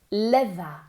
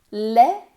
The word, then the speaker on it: leather: Leather. Leather. La TH aquí es vibrada.